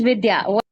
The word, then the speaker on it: Vidya: It's Vidya or Vidya? How do you pronounce? It is Vidya.